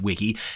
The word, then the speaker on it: Wike: is called Wiki and it's actually spelled w-i-k-e at least I think it's probably meant to be pronounced Wiki it is essentially a